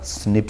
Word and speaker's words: SNP: this is pronounced as slips snps in a pronounce in the snip sun okay there are about 1.4 million locations